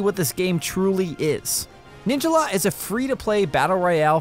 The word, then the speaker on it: Ninjala: On the surface, Ninjala, as it's pronounced, not Ninjala, may look like a